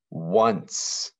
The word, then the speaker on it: once: long i sound from be careful with this word because it has the uh sound but it's actually made with an o once that one can be pretty tricky to spell it's like the number one which would be o n e but with a soft c in it if you want to